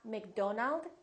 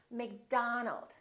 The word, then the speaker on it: McDonald: contain the a sound many of these words are going to be spelled with the letter O make sure that you don't say o it's not Robert it's Robert it's not McDonald it's McDonald all right let's practice